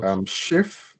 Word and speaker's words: chef: This is a pronunciation yes. activity. Because chef is a word that people do use in English, but it's originated in French.